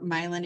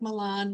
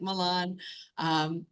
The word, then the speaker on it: Milan: I am the English language coordinator for Milan area schools, and it is pronounced Milan. I know it's spelled like Milan, looks just like Milan, but we say Milan here.